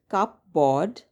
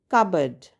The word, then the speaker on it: cupboard: It's spelled cupboard, but that's not how we pronounce it. The right way to pronounce this word is cupboard. Cupboard. The P is silent, hence we say cupboard.